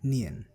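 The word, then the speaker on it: ㄴ: Now the next letter that we have is Nian. The pronunciation of Nian remains same irrespective of its position in the word. So it is always pronounced as N.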